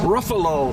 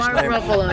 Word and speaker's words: Ruffalo: What What will Mark Ruffalo, however the he pronounces his name? Ruffalo. Yeah. Ruffalo. Buffalo.